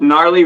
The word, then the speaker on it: gnarly: not quite understanding with gnarly verticals oh yeah oh there's a silent G or is that yeah